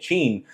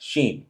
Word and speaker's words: Hsin: I kept saying Jean, but Google's saying it's generally pronounced like Shin or a soft sheen.